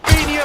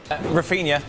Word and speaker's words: Raphinha: But now, Raphinha for Barcelona and scores! Barca ahead inside. Okay. It's Raphinha.